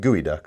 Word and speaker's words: geoduck: It's GeoKnife, but I amusingly want to pronounce it like we pronounce the word that is spelled geoduck, which is pronounced gooey duck.